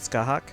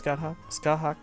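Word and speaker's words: Scáthach: Alright, so we're starting with Scathach. There's a T in there, I think is silent.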